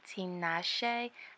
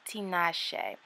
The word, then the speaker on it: Tinashe: So the hair comes in this white box that has their name on it, and I believe it's pronounced Tinashe, kind of like the singer, right?